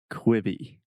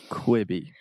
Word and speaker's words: Quibi: you quibby quibby okay so this is difficult because in the first syllable we have the e sound so imagine the difference between you know the classic examples of Beach and or sheet and so we have quick okay so just say